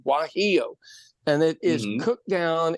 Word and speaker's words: guajillo: But Mexicans have a chili called a guajillo chili, spelled with a G, guajillo.